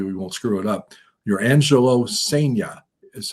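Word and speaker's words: Jurrangelo Cijntje: Your Angelo Sea is how we're told it's pronounced.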